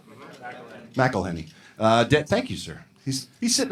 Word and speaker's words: McElhenney: Abbott Elementary and Rob McElhenney and is that how you say his name? McElhenney? Is that right? McElhenney.